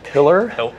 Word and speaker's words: pillar: Was I believe it's pronounced pillar. Pillar? Pillar, Oh, okay. pillar, you know, like giant stone structure.